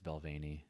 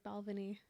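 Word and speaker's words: Balvenie: to try it out pronounced balvany yeah it's belvani i've been calling it like balvini this whole time that's fine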